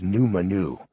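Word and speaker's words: Nʉmʉnʉʉ: teach the kamansi language num Manu pronounced num Manu through language courses and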